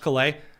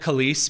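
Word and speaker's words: Calais: I do know, in fact, that it is pronounced Klay, but I called it Kis because I know that it upsets the French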